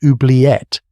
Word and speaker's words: oubliette: It is pronounced oubliette, and it comes from the French verb oublier to forget.